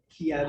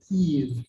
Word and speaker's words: Kyiv: So Kyiv, they have a great I with 2 dots on it, which is like an elongated E, and that's the sound that we're supposed to say Kyiv.